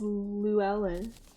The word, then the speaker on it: Llewellyn: It's Llewellyn. Demon said it's Llewellyn.